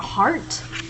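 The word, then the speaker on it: hart: Europe can sometimes be known as a heart not spelled like your heartbeat but heart spelled H AR T is another word for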